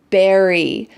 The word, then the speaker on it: berry: And with B, your lips are together. B, berry, berry.